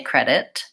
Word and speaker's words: credit: okay to say credit one way you can practice using the stop T is just trying to make a really light T so first say it with a really strong t credit big puff of air credit now try to say it with a really light T credit credit quiet and then finally